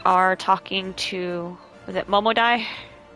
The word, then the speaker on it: Momodi: So now we are talking to, was it Momodai? Momodi. It looks like Momodai to me. Because DI could also be pronounced as die.